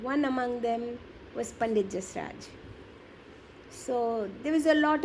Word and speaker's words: Jasraj: So for many years, you studied with a very famous vocalist, Pandit Jasraj. Is that how you pronounce Yes, Pandit Jasraj.